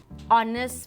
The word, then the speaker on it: honest: use n forward steps start with silent hitch for example an honest man and our you see